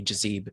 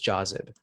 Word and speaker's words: Jazib: my name wrong so people usually call me jazeeb so my name is jazib so i use my